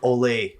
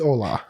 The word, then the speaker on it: Ola: I was calling him Ole until you corrected it. It's Ola.